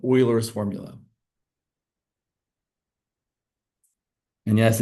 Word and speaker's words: Euler: We're going to use these three tail polinomials to give us what's called Oilers's formula. And yes, it is pronounced Oiler, not Euler.